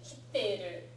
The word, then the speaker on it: 切っている: はい。It's a very important pronunciation distinction. 切っている she's cutting the pizza.